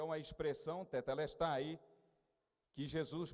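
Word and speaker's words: τετέλεσται: Os estudiosos da língua grega dizem que é uma expressão, tetelestai, que Jesus pronunciou. Diga, tetelestai. De novo, tetelestai.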